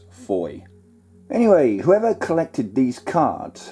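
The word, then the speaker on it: Fowey: Incidentally, Foy is spelt F-O-W-E-Y, but is pronounced as Foy.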